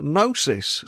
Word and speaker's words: Gnosis: guest is the co-founder of a company called Nosis spelled G N O S I S and